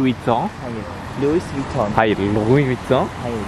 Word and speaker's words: Louis Vuitton: Louis Vuitton? Hayır. Louis Vuitton diye okunur.